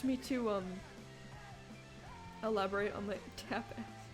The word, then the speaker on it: tapas: How do you pronounce T-A-P-A-S? If it's not tapas, what is it? It's tapas. Like, tap that.